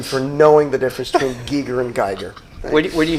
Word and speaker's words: Giger: a big argument that they think it's g g it's Giger it's Giger and they even talk